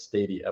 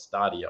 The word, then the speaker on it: Stadia: pick it up now stadia or stadia depending on how you want to pronounce it I understand it's stadia but I I used to call it stadia all the time um is isn't entirely